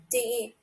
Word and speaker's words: 的: Yeah, DE. The Pronounced as yeah.